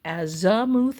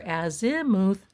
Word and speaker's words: azimuth: It's either pronounced azamuth or azimuth either is common and acceptable.